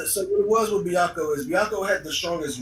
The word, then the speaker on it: Byakko: Now, the next two episodes is about Baraka, if I'm correct. The white tiger, if I said his name right. I think that's how you pronounce it. It's Byakko. Oh, Byaku. Byaku.